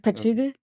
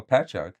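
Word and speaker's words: Patchogue: Pachuga. Oh, Patchog.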